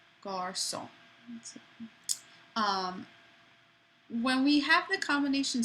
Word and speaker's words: garçon: The hard sound of a C would be a K, but when you see the accent cédille, that's telling you, no, pronounce this like an S. So for example, the word for boy, garçon, makes it soft.